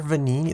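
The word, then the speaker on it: Venigni: the expert when it comes to Legion Mr venini that's how you pronounce that I pronounce that V electricity if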